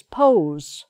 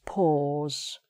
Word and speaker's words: pause: So some people try to pronounce this pose, pose, but that's not right. It's pause.